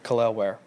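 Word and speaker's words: Kel'el Ware: Khalil Ware. Okay. It's like Khalil, but it's Lel.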